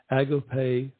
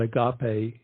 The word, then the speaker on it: agape: Tranquility a place of agape love we call that Agape here in the South but the correct pronunciation is actually agape uh love that we